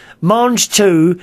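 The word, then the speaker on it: mangetout: Marj 2 is how you pronounce them. What, Marj 2? Is it? Marj 2.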